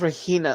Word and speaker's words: Regina: I know it's Regina. Look at me. I even wrote down the G pronounced with an H.